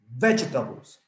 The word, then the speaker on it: vegetables: the correct pronunciation is vegetables vegetables the accent goes in the first syllable in vegetables but if you consider